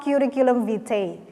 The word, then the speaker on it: curriculum vitae: Nah, and today we are going to talk about describing yourself, but it is in the form of curriculum vitae.